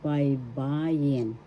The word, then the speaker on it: baybayin: And in Tagalog, writing means baybayin. Baybayin. First syllable bay, second syllable ba, third syllable jin. The second syllable has the accent baybayin.